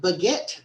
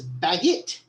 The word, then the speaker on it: baguette: by the speaker was a mispronunciation of the word baguette as baggett moving on to page